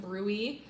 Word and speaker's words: bruit: It looks like bruit, but it's pronounced bruit.